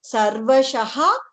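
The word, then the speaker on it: सर्वशः: Otherwise, Visargam is pronounced as ha. If it is in between, then there are two options in hand. One is we can say Sarvashaha Prithivipate. Say Drupado Draupadeyascha Sarvashaha Prithivipate. That is correct.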